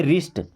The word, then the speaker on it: wrist: कुछ वर्ड आपको दिखाता हूँ, जैसे WRIST, इसे हम पढ़ते रिस्ट, डब्ल्यू साइलेंट, क्या पढ़ते रिस्ट, रिस्ट का मतलब होता है कलाई जहाँ पे राखी बांधी जाती है, ओके।